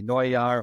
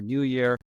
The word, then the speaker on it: Neujahr: your name even more because I'm German and it's in my pronunciation be noar or New Year Brian is so uh